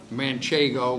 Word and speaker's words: Manchego: Manchego, which is the right way to say her name, but she's been called a lot of other things, Manchego, whatever.